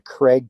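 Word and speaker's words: Kreg: saw a jig saw and and then a Craig tool which does all the pocket screws that's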